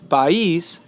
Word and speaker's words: país: The stress is sobre la I.